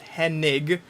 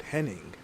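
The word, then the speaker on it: Hennig: Perfect as Kurt Henning, spelled with an N. They're absolutely certainly introduced him. But in this timeline, it's Kurt Henig, and it always has been Kurt Henig.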